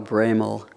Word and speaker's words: Broemel: Tyler Ramsey, Carl Braymal. Almost said it wrong. Cuz the letters are not There's no A.